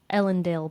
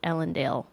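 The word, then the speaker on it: Elendel: Okay, the way I hear you pronounce it has a long A, Ellendale. And I like that so much better than Ellendale, which is, the short A that happened.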